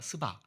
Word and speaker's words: 스바: 솔로몬한테 어떤 여왕이 찾아왔었죠 발음 잘 하셔야 돼요 씨바로 가면 이상해 드리니까 스바 알겠죠 개역성경은 시 바로 되겠습니다 근데 이게 엑센트를 잘 하셔야 됩니다 스바의 여왕이 그 솔로몬의